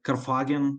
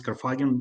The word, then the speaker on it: Karfagen: Yeah, um you can uh pronounce it like Karfagen, that's okay. I I I heard some people saying you know, saying like this Karfagen, but Karfagen, yeah, it's okay.